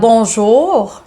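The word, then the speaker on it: bonjour: সো আর্টটাকে আর না বলে এটাকে বলতে হবে। সো বনজোর, জোর, একটার উপর একটু ফোকাস করতে হবে।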